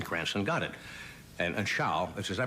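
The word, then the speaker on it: Zschau: And and Sha, is I pronouncing it correct? Ed, as they said in the commercials, Sha.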